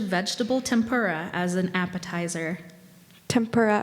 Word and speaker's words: tempura: tempura as an appetizer tempura are there any alternate pronunciations tempera speller four we'll start